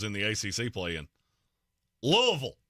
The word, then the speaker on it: Louisville: the a play in Louisville Louisville that's how they say it blame them not me mhm Louisville Louisville uh